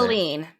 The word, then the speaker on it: Helene: So is it Hurricane Helen or Helene? I don't know how to say it. Helene.